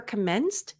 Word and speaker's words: commenced: right notice that here for commenced the Ed if you look at the pronunciation it's actually a t and we're going to